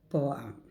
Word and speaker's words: poem: This is dissyllable word. Poem, poem, poem. That is not poem. Poem means monosyllable.